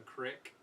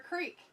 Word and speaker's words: creek: same i don't know it's just a different pronunciation for people pronounce it different the crick a crick or a creek won't go down to the creek you're gonna go down to the creek just depends on where you're from i feel like it's